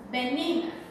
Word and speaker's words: banana: Mas em inglês, crianças, a pronúncia dela é banana.